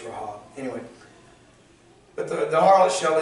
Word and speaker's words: Rahab: Only Rahab, and we call her Rahab just because it's easier to say, but if you're pronouncing that properly, it's Rahab.